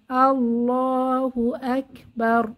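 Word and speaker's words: الله أكبر: করে পড়তে হয় তাহলে এখানে আকবার র মোটা করে পড়তে হবে আল্লাহু আকবার আশা করি বোঝাতে পারলাম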